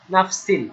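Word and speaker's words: نَفْسٍ: হালকা করে নাফসিন ছিল নাফসিন তো তানবিনের পরে লাম আসলো তাহলে ইদগাম হয়ে গেল তানবিনের সাথে মিলে যাবে তখন এই সিনের যে নুন ন এটা উচ্চারণ হবে না তখন সিল হয়ে যাবে সিল নাফসিল ওকে নাফসিল লাম্মা লাম মিমে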